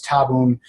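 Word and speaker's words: tabun: wmd Medicine you you now have the proper pronunciation so it's tabon sarin somon and cyclosarin so an interesting uh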